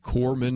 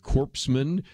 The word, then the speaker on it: corpsman: like President Obama that did not know that you pronounce the word Corman instead of corpsman that they thought Australians